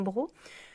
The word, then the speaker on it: broc: c'est qu'un gros alors ça s'écrit un broc mais se dit en gros donc un gros c'est